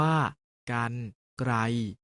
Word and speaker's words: กรรไกร: ออก เสียง อัน เช่น กรรไกร ออก เสียง ว่า การ ไตร จัด สรร ออก เสียง